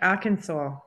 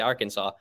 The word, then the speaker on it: Arkansas: I don't get why we say Arkansas. Right. We say Kansas.